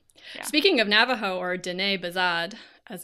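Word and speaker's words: Diné Bizaad: Speaking of Navajo, or Dene Bazad, as it's known in its own language, I had a PhD student.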